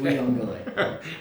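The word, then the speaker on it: Uiagalelei: DJ Uyunglele. Okay. Uyunglele.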